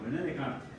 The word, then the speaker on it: René Descartes: Descartes, digo. Si se escribe así, es René Descartes.